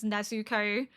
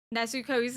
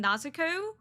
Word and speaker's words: Nezuko: Nezuko, I think is how Tanjiro is saying it. To me, it sounds right, but evidently people are correcting me that it's not right.